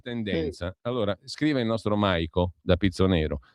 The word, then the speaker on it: Maico: altrove, comunque Maico, no, senza la L però, no Michael, appunto. Maico, Maico.